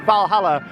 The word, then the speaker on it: Valhalla: valhalla that's just here might start with a w but you do pronounce it valhalla i've been assured of